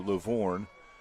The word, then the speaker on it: Lovvorn: It's spelled Lovvorn, so Lavorn, to my ability for linguistics.